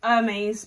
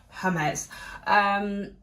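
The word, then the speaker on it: Hermès: I was about to say Hermes, but it is Hermes. Hermes with an E, a silent E that they just didn't want to put on there.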